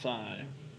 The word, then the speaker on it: psi: they have this thick this is called sigh spell psi but it's a Greek letter pronounced sign so what do we